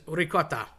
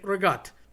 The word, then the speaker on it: ricotta: Okay, so ricotta, again, a cheese, but people say rigot. There's no G involved. C's and G's got morphed and mangled so many times over the years. It's just hilarious.